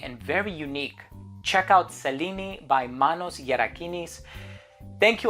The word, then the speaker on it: Selene: on the bottle, and Selene is how it's pronounced in Greek, and I'm a huge